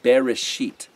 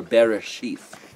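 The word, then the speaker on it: בראשית: genesis the very first word is pronounced bereshit or bereshith bereshis i say a sheet it starts with the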